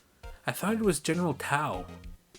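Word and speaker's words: Tso: i remember my co-worker was calling it general taiyo and i was like no no it's general tao and trilobite i think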